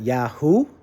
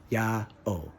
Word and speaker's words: IAO: w lowercase a lowercase w how do you pronounce that and he said yeah or I said not Yahoo he said nope and I said no I said no yeah oh if it was ooh it would be this